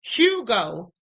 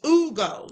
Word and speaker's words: Hugo: have been calling him Hugo Hernandez Mendes, but I forgot his name is Ugo because the H is silent in Spanish.